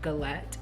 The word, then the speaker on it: galette: The dessert that I'm making is actually pronounced galette, not galette. Galette.